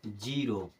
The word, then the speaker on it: ZERO: जीरो।